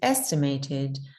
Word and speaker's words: estimated: So most of you say it with gray day, but actually it's going to more commonly be said as red pepper.